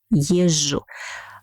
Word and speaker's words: езжу: Я езжу, езжу. Pay attention on its pronunciation. Here we write Z and J in the middle, but pronounce only J.